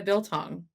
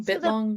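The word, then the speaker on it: biltong: What's the difference between that and the bill tongue? Am I saying it wrong? Bit long. Bil tong. No, Bill tong.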